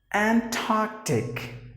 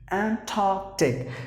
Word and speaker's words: Antarctic: The next word is Antarctic. Antarctic. Just imagine that there is a K sound.